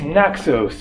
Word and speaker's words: Naxos: end in S, Paros, Naxos, Milos, Eos, Andros, Telos, Tinos, Amorgos, there are tons of them. In Greek, they don't pronounce the S. It is Naxo, Paro, Andro, Tilo, Tino, Amorgo, etc.